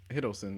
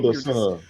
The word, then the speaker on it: Hiddleston: Hiddleston. Yeah, you're just saying it Hiddleston. weird. Like you're saying it's the right name. Hilderson.